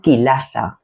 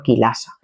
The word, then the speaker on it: Chilasa: Estas eh son del género kilasa, ¿vale? Se escribe chilasa con ch. Género kilasa, ¿vale?